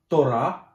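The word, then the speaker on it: תּוֹרָה: Либо она может ставиться с согласной буквой ВАВ, да, и здесь у нас слово ТОРА или закон, ударение на последнюю букву, ТОРА, закон, и вот ВАВ с точкой наверху читается ТОРА.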